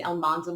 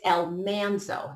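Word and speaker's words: Almanzo: watched the love between El Manzo and Laura not heat up. Side note, it's El Manzo, not El Manzo, but the mispronunciation on the show has forever altered the real El Manzo's name.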